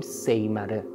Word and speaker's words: سیمره: هم استفاده می‌کنیم و با تلفظ پارسی امروز بهش میگیم سیمره سیمره هم نام یک